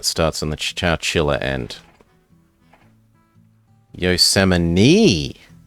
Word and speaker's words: Yosemite: Yosemite. Apparently. It's spelt Yosemite, but whatever. Regional dialects.